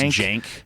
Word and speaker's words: Cenk: I think it's pronounced Cenk.